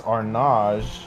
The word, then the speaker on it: Arnage: It's Arnage, I believe. Correct. To the 20th corner. See, I'm learning. I'm learning. It is a French circuit. So, some of these names, Tetra Rouge, Mosan, Arnage, a lot of interesting names here.